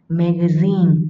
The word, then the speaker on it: magazine: Ok, magazine, nhấn trọng âm, nhấn vào âm cuối. Magazine, tạp chí.